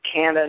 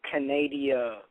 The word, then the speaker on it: Canada: It's pronounced Canada, not Canadia.